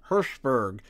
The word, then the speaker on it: Hirschberg: I just say that his name sounds like you're saying hash burg but with your lips put together Hirschberg I actually had to